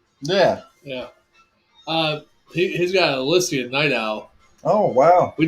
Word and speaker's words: Elysian: Now, let me ask you, Jammer fan, do you pronounce Eliason or Elysian? So, according to the distributor that distributes the beer in my area, it's Elysian. Elysian. Oh, so that's 3 different ways, huh?